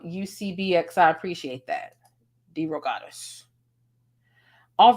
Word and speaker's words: DeRogatis: pronouncing his last name it sounds like d-ro goddess d-ro goddess okay that that makes